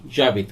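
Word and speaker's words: j'habite: Apostrophe वाला, तो HABITE, जाबित। तो जैसा पहले मैं आपको बता चुका हूं H साइलेंट हो जाएगा तो जे जो है वो ए से जुड़ जाएगा, तो इसे पढ़ा जाएगा जाबीत।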